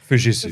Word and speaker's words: Fujitsu: Okay, I believe it's pronounced Fujitsu.